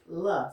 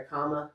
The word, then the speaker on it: Kamala: And it was so cute because one would say the first is comma, like a comma, and the second is la. So that's why you see a lot of shirts now that just have like a comma and LA on it.